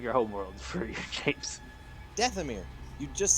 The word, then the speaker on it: Dathomir: Some from Manon, a couple from Dethori? I'm trying to say its name right. Pulling up its cargo manifest How do you and pronounce the name of your homeworld for your James? Dathomir.